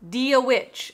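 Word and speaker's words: Dia dhuit: Dia Witch, I think is how you say it.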